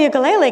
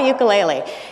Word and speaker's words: ukulele: do i got a ukulele and i haven't looked back since for the record the proper hawaiian pronunciation is ukulele but i'll use ukulele tonight since you know we're on the mainland and all um but